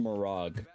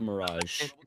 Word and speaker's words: Mirage: It's pronounced Mirag, not Mirage.